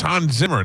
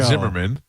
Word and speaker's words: Zimmer: No, Hans Zimmer. That's different. Remember, we had the Hans Zimmerman. It's Hans Zimmer, not show. Zimmerman.